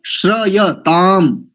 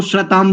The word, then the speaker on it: श्रयताम: और श्रयताम ऐसा है पद, श्रयताम, उसको श्रताम बोल देते हैं, श्रताम, पता नहीं किस बात की जल्दी है।